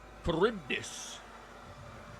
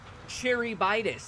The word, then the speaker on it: Charybdis: Charybdis. Cherybitis. That's how I always pronounced it.